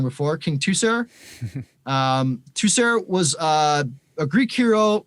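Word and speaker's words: Teucer: So that's from King Tucer. Tucer. I said it wrong before. King Tucer.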